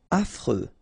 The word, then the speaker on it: affreux: Affreux. Final X not pronounced. And then you get this fr. Freux. Affreux.